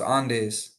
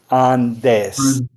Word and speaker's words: Andes: Ah, okay, but it's pronounced Andes.